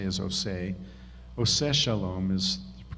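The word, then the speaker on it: עושה שלום: osei osei which we usually say is osei ose Shalom is the correct pronunciation of the traditional prayer but oh say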